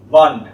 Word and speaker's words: Wand: NE and the wall wand just like you spell the magic wand w a n d but pronounced v d v so D